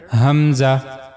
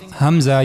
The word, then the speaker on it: hamza: is the letter hamza The origin of this letter is the lowest part of the throat like the previous letter ha. So for pronouncing hamza you have to use the lower part of your throat.